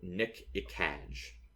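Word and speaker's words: Gnk'ekaj: his name is um it's spelled GN K apostrophe e k AJ so Nick iage oh oh yeah and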